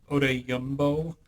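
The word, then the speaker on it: Odeyingbo: How do you pronounce it, Dork? Odeyumbo.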